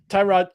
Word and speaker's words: Tyrod: Tyrod. Tyrod or is it Turrod? I don't know what anymore. It's Tyrod. It's Tyrod to us. Damn it. But I guess he pronounces his name Turd.